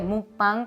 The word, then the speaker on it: mukbang: Bueno, antes que nada quiero aclarar que mukbang, que se escribe mukbang pero la pronunciación original es mukbang, básicamente es comer una